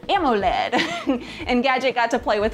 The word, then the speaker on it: AMOLED: It's a 480 by 800 capacitive AMOLED touchscreen, which I think I'm gonna begin pronouncing as AMOLED.